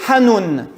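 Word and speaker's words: חנון: Quand on va sur le mot hébreu, je vais essayer de le prononcer, je me suis pratiqué une couple de fois, ça se dit Hanoun.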